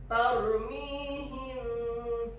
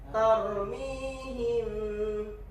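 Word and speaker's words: تَرْمِيهِمْ: Tarmihim. Jadi bibir mau nyentuh nggak nyentuh, tapi nyentuh. Nyentuhnya itu nggak melekat seperti iklab. Coba contohin Zidan. Tarmihim. Nah nggak terlalu nyentuh nih. Tarmihim. Sambil dengung.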